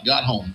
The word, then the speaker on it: Gottholm: Got a friend of mine, got Martin Gottholm in here with me. I'm saying it right, Gottholm. Perfect. A lot of people mispronounce it.